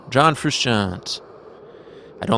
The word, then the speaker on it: Frusciante: of my favorite artists his name is John Khrushchev John Frusciante I don't like pronouncing his name he's the guitarist from the